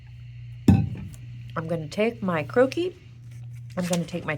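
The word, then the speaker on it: croquis: tracing paper over the skirt area of the croaki. Croaki is spelled C R O I'll write it here so you see it. C R O Q U I S croaki.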